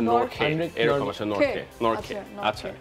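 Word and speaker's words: Nortje: next one Anrich Anrich নর্থ নর্থ তারপর কি আচ্ছা উচ্চারণটা এরকম আসে নর্খে এরকম আসে নর্খে নর্খে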